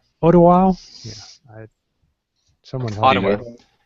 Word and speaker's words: Ottawa: here, is this article from how does that pronounce? Ottawa? Yeah. Someone help me. Ottawa.